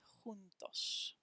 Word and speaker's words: juntos: and the last one juntos means together in spanish they spell it with a j juntos tricky tricky tricky let's